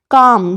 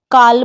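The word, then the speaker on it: calm: है शाम यानी भजन कम सी ए एल एम कम यानी शांति बहुत सारे लोग इसको कल में पढ़ते हैं लेकिन काम हमें इसे नहीं पढ़ना है कम पढ़ना है गुड सी ओ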